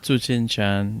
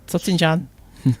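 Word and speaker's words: Tsuchinshan: the dialects in China, the TS is pronounced ch, like you said, and others it's ts.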